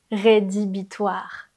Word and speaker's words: rédhibitoire: Le troisième mot, c'est rédhibitoire. Rédhibitoire, avec un H qu'on voit à l'écrit mais qu'on n'entend pas.